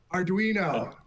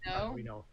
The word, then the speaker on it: Arduino: Is that Is that the correct pronunciation of that word? Arduino. Arduino. Adrino. Arduino. Arduino.